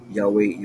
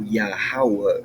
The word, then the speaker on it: Yahawah: So Yahweh, Yhovah, Yah, Jaha, Yohoo are all pronunciations in the correct language but incorrect dialect form making it an incorrect pronunciation.